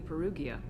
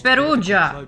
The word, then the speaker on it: Perugia: did you leave the Perugia after it's not Perugia it's peruja it's a Italian name of a city dumbass just know how